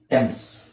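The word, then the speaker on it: Thames: ಇದು ಎನಿ ಈ ಪದನ ತುಂಬಾ ಜನ ಥೇಮ್ಸ್ ಅಂತ ಕೇಳ್ತಾರೆ ಥೇಮ್ಸ್ ನದಿ ಕೇಳಿದ್ರ ಥೇಮ್ಸ್ ನದಿ ಅಂತ ಹೇಳ್ತಾರೆ ಬಟ್ ಆಕ್ಚುಲಿ ಅದರ ಪ್ರೊನೌನ್ಸಿಯೇಷನ್ ಏನು ಗೊತ್ತಾ ಟೆಮ್ಸ್ ಇದನ್ನ ನೀವು ನಂಬುದಿಲ್ಲ ಆಕ್ಚುಲಿ ಟೆಮ್ಸ್ ಅಂದ್ರೆ ಅಂದ್ರೆ ಏನು ಅರ್ಥ ಟಿಎಚ್ ಎ ನಿಮಗೆ ಟಿ ಆಗುತ್ತೆ ಇಲ್ಲಿ ಎಚ್ ಸೈಲೆಂಟ್ ಆಗುತ್ತೆ.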